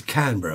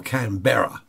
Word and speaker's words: Canberra: I do know that the capital of Australia is Canberra or Canberra, however you wish to pronounce that.